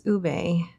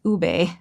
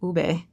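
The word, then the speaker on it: ube: love this one because ubé not ub, it's ubé. If you want to pronounce it like a Filipino ubé.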